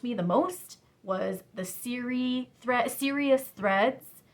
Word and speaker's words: Siri: the most was the Serious Threads. It's Siri is the blog writer on that one, S-I-R-I. So the Serious in Serious Threads is spelled S-I-R-I.